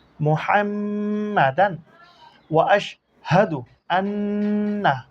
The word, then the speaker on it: محمدا: মিম ফেশমু, হা মিম জবর হাম, মুহাম। মিম জবর মা, মুহাম্মা। দাল আলিফ দুই জবর দান, মুহাম্মাদান। ওয়া আশ হাদু আন্না মুহাম্মাদান।